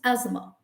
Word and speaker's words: asthma: bad time all right another very common uh word which is mispronounced is asthma okay asthma asthma a lot of people say asthma but the pronunciation is just asthma i have asthma okay